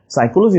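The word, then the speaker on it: psychology: বানা কিন্তু P extra সাইকোলজি বানানটা মনে রাখবে পিসাই চল যাই বা পিসি চল যাই এখানে কিন্তু পিটা নিমোনিক আমরা আজকে যে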